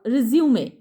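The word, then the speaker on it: résumé: लेकिन जब ये करिकुलम विटाई के सेंस में आता है या बायोडाटा के सेंस में आता है तो इसको हम रिज्यूमे बोलते हैं।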